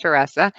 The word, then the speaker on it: Theresa: yourself my name is teresa actually it looks like theresa but it's pronounced teresa and uh yeah and